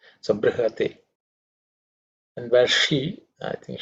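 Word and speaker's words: बृहते: In terms of pronunciation, br, okay, br, not bri or not bru, it's a br, okay. It's the rikara in the vowel, okay. Brihate, like Krishna, Hridaya, all of them have the same.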